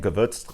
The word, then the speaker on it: Gewürztraminer: but it is brewed with uh Chardonnay and gavotes Juice So if you've ever had an issue of pronouncing that um there you go so yeah